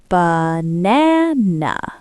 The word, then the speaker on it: banana: The stress is in the middle. Nah. That is the only real vowel. The first a and the last a have been punched. They turned into schwas. Ba. If you try to say ba na na with three strong vowels, you sound like a robot.